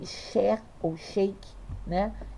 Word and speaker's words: Sheikh: Se escreve Sheikh, mas se fala Cher.